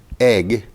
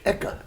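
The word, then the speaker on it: Eigg: of the island of in English egg and Scottish eeka eeka you got it ah I was going to say that but you know I you Tom was ahead of me so it's spelled EIG G G and EIG g g is a two- syllable word in Scottish those Scots amazing people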